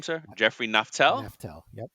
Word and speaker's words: Naftal: absolutely excited to have absolutely how do you pronounce your last name Sir Jeffrey naftel Nel yep naftel naftel I hate mispronouncing names so when I'm off